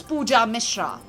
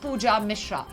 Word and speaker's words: Pooja Mishra: ban trolling ban cloning my name is easy and simple its pooja Mishra like I said not any of those which I said earlier but pooja Mishra so luminol lips and say pooja Mishra sweet and simple oh